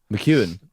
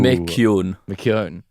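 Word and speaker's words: McKeon: Mchuan. No, Mu. Mun.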